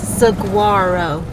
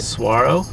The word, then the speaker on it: saguaro: It's Saguarro. You're saying it right. Saguarro. I'm saying it right. Well, that that time you did it. Suarro. Suarro. No. Saguarro. Saguarro. I've heard it both ways.